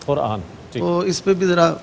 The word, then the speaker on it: قرآن: جی نہیں میں قبلہ کہنا چاہ رہا کہ تھوڑی تلفظ جو ہے ان کا جائے, وہ قرآن کہہ دیا انہوں نے, قرآن لفظ ہے قرآن.